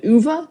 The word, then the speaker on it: Ove: And I'm gonna try and pronounce this the correct way because it's a Swedish name, but it's a man called Uva, I believe is the Swedish way to pronounce it.